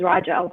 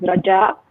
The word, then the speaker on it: Rajaa: Raja uh my name is how you say it in English is Raj Al but how you say it in Arabic is Raj Al correct me yes um